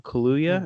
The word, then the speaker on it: Kaluuya: From Get Out, Daniel Kaluuya, I believe is how you say his last name.